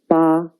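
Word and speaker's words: 八: a new chinese character it means eight the pronunciation is ba please write it with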